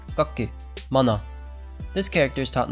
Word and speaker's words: 学: history of these kanji today's kanji is study pronounced goku this character is taught